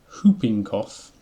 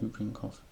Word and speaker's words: whooping cough: Whooping cough. I believe you don't pronounce the W in that.